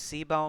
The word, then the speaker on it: CBOW: अब वो कैसे, कि हमारे पास सी बाओ में, सी बो मैं प्रोनाउंस करूँगा अब इसको, सी बो में क्या